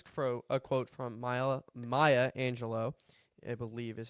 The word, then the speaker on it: Maya Angelou: So this was for a quote from Maya Maya Angelo I believe is how you pronounce her name. I looked it up. Maya Angelou.